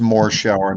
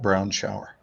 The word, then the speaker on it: Morshower: before the competition it's pronounced it's pronounced more shower not brown shower brown shower but i'm